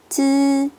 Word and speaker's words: zi: Z, C, S 뒤에서 I는 이 소리가 아니라 으 소리를 내실 거예요. ZI는 쯔, CI는 츠, SI는 스 하고 내실 거예요.